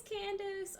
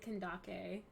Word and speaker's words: Candace: increased that's really good here's Candace or you can also pronounce it kendake which I don't mind either uh either is pretty